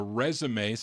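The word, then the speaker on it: Résumés: I think it doesn't have that little accent over the E, but I think it's pronounced The Resumes.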